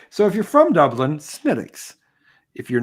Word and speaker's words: Smithwick's: I said Smithwick's. I said Smithwick's because I'm a fucking American. I did it wrong. What is this actually called? Smittix. Smittix. Smittix. Smittix. That's how I pronounce it.